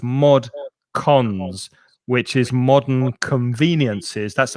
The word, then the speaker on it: mod cons: Before this word, though, Eduardo's saying mod con. It's C-O-N-S, Eduardo. So it's mod cons, which is modern conveniences.